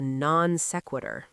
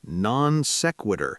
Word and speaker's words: non sequitur: We call this a non sequitur. Whoa, that is fancy Latin. Non sequitur. Can you spell that for us?